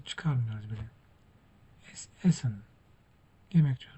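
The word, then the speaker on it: Essen: Esen yemek diyoruz. Burada çift s var. Bunu da tek olarak okuyoruz.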